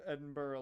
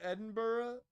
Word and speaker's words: Edinburgh: No, nobody pronounces Edinburgh like he did. I pronounce it Edinburgh solely because I've heard it too much because Joe Hendry a bunch of people.